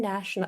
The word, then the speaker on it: national: It's just is nation national. And I always have to remember nation first just to make sure that the adjective is the opposite.